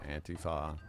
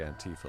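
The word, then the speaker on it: Antifa: all over the place some people say auntie Fah but the consensus seems to be auntie for like Queen Latifah and Tifa is a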